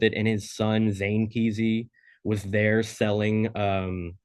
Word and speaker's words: Kesey: Do you pronounce his last name Kesey? Is that am I saying it wrong? Yeah, it's Ken Kesey. Oh, I've been saying Ken Kesey my entire fucking life, dude.